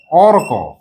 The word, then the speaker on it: অর্ক: আগে ক তারপরে র আমি যদি এখানে আগে ক আর পরে র দিই দেখো তো অর্ক উচ্চারণ হচ্ছে অকর হচ্ছে ভুল হচ্ছে তো তার মানে কি